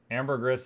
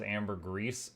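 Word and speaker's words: ambergris: marbles with less marbles ambergis is actually the most widely used pronunciation in English the the second most is Amber grease Amber gree is very uncommon that's cuz we're all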